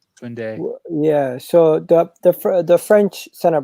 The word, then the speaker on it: Koundé: Julius, how do you guys pronounce his last name? Koundé.